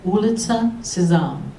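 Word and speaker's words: Улица Сезам: Ulitsa Sezam.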